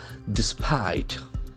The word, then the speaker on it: despite: Despite. Despite. It has got two syllables. Despite. That I sound is very prominent.